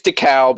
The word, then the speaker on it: DeKalb: it's DeKalb. It is with that Great Lakes vowel raise in there.